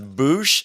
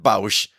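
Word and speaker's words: Boushh: any kind of audio book, it has been pronounced as Boosh. Okay. But growing up, before I heard all this, I always pronounced it Bausch.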